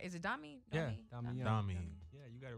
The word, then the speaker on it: Domi: Yeah, Domi. Yeah, you got it right. Make sure I'm pronouncing it right for you.